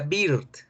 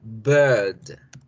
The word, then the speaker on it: bird: Esta palabrita que siempre la confunden ustedes, ave, ave, no se pronuncia bird, se pronuncia bird, bird, bird.